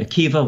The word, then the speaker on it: Akiva: I'm sure most people watching are familiar with Rabbi Akiva, once again spelled with a B-A at the end, but pronounced with a V.